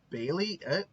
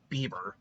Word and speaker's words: Bailey: Bailey. Haley, not Bieber. Bailey.